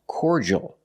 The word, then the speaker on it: cordial: say cordial in American English the word is pronounced cordal in American English cordal make the or sound